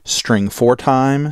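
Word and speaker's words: strftime: is stf time now you can either pronounce that string for time string format time but the idea is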